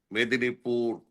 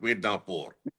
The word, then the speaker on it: Medinipur: Medinipur, you call it Midnapur, just because we can Midnapur.